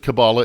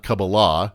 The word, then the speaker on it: Kabbalah: I'm pretty certain that Kabbala is pronounced Kabbala and not Kabbalah, according to Google and YouTube, so there's that.